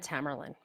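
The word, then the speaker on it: Tamerlan: Jiar and Tamarlain. Those are the two brothers. Just so you want to know to how to pronounce them.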